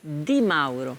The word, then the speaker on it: Di Mauro: La bonne prononciation, c'est laquelle? Di Mauro. Di Mauro. Mauro. Ou Maro. Mauro. Ah, Mauro.